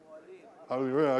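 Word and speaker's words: Hapoalim: So Bank Hapolaim, did I get that right, the pronunciation? Hapolaim.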